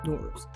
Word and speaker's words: Nowruz: And me being from Tehran, we call it Nowruz. But depending on where you're from, what kind of accent or dialect you have, you pronounce it differently. But this is how it's written. And it's called Nowruz, as in new day.